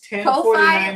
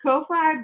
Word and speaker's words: Ko-fi: I think it is, I call it Ko-fi, but I think it is coffee. I saw a YouTuber pronounce it as coffee. But we started our coffee.